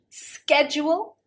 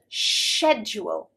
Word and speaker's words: schedule: Schedule, schedule with a sk, and schedule, schedule with a sh sound.